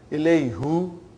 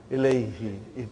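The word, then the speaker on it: إليه: So, who became now pronounced ilayhi. You can pronounce with ease, See, that's how beautiful the language is. How logical things are in Arabic language.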